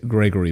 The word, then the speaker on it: Grzegorz: I should point out I'm using the the Western pronunciation of of your first name so to my polish viewers I apologize but I triy I tried for like 10 minutes for your polish viewers my name is Gregor I I said